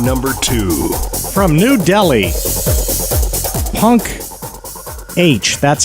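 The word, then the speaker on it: Punkh: 10 countdown song number two from New Delhi punk h that's how it's spelled PU nkh punk p u n KH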